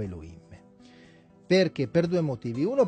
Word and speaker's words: Elohim: il nome correttamente siccome non si dice e lo kim si dice elohim o elohim perché poi